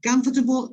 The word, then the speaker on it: comfortable: let's say i this word is a long word the only way to pronounce it correctly is to shorten this because it's not comfort table is